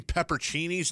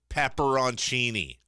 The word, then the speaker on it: peperoncini: the salami cream cheese roll some people use peperoncinis and it's peperoncini for those of you I've said this before and people go wood as a pepper oh you mean pepper Cheney's no dude look it up I've had this